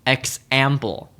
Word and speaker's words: example: For example, the word example stresses the middle syllable, example.